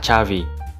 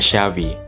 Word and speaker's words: Xavi: Makanya pelafalan nama seorang gelandang legendaris timnas Spanyol dan FC Barcelona adalah Chavi. Meskipun terkadang mimin juga ngedengar ada yang menyebutnya Xavi, dulu mimin tetap nyebutnya ya Safi juga.